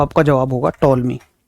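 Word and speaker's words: Ptolemy: सन 20 का मतलब आज से 2004 साल, 2004 साल पहले एक वैज्ञानिक आते हैं जिनका नाम है टॉलमी। ये टी इसमें साइलेंट है, इनका नाम है टॉलमी।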